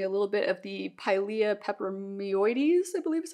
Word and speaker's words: Pilea peperomioides: And there is something about this that kind of reminds me a little bit of the Pilea peperomioides, I believe is how it's pronounced.